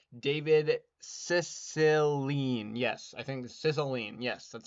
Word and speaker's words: Cicilline: Yes, I think Cicilline.